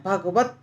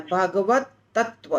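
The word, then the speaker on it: भगवत्तत्त्व: मुझे spelling mistake है भगवत त्व लिखा है भगवत नहीं बोलना है भगवत तत्व विज्ञान ऐसे बोलना है पता नहीं आपके ग्रंथ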